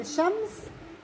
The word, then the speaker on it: الشمس: لكن بكلمه الشمس نحكي الشمس. لا بيكون في صعب علينا نحن نحكي الشمس، نحكي الشمس، فعشان هيك بنسميها لام شمسيه. اللام الشمسيه لا تلفظ واللام القمرية تلفظ.